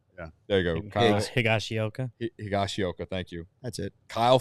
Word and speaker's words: Higashioka: On Lance's list, Nathan Eovaldi, Kyle Higashioka. I can't say his name. Sorry. Higgy. Yeah, Higgy for short. Yeah. There you go. Higashioka. Higashioka, thank you.